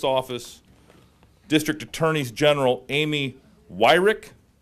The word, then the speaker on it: Weirich: District Attorneys General Amy Weirich you were worried I was gonna mispronounce that it's like it's not phonetic you got to pronounce it right Jodi Pickens and mark